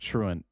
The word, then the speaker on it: Truant: eat the out of it's pronounced truant and you knew that so yes that's the